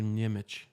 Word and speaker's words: Niemick: He, Is it Niemick or Niemich? it's Niemick.